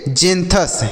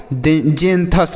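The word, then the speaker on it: xanthus: तो इसे क्या पढ़ेंगे इसे एक्स से ज फिर पढ़ेंगे तो इसे हम पढ़ेंगे जथ क्या पढ़ेंगे बच्चों जें थस पढ़ेंगे एक्स से ज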